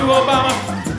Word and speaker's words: Obama: titties I went to Obama said can I your mama he said My Name's Obama it rhymes with mama show I rote a